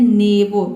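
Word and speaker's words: neighbour: दोनों वावल के बाद आर से पहले दो वावल आया है तो आर भी साइलेंट हो गया और दोनों वावल भी साइलेंट है यहाँ पे। ठीक है, यहाँ पे हम इसको पढ़ते हैं नेबो।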